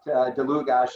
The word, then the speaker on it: Dlugosch: here in Boise because you actually pronounced my name right. Dlugosch is exactly right. So thank you for that. It doesn't always happen. So yeah, I'm Dlugosch, founder and CEO of Natural Intelligence.